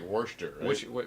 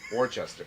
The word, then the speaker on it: Worcester: say it correctly or it's not spelled like so like werster's basically we're Chester Worchester yeah so people that